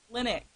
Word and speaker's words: Linux: I'm sorry, I mispronounced She watches Linus. it. She's been watching too much Linus Tech Talk. Linux.